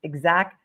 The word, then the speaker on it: Exacq: The purpose of my trip was to allow me to extract surveillance video from the Canton Police Department's Exact Vision DVR system, and that is spelled